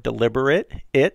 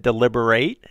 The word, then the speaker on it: deliberate: I talked about the word deliberate, it, which was an adjective. And I said deliberate, eight, is a verb.